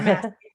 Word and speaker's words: Masci: Is that the right way to pronounce it? Sarah Masci. Yep. Masci? Yep. Okay, Masci.